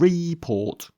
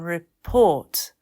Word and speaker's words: report: Like hotel and decide and report. But it's hotel and decide and report.